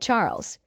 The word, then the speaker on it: Charles: glass while looking at Charles you're always so thoughtful my dear husband she replied Charles pronounced the French way as charl looked like typical Euro